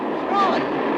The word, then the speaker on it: Froy: Froy. I'm sorry, I can't hear. It rhymes with joy.